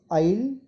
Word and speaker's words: isle: The third word is isle. The S syllable is silent.